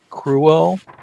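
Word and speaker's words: Kruel: My character is Cars Cruel, and a lot of people tease him about his last name because it sounds like cruel, but it's spelled with a K.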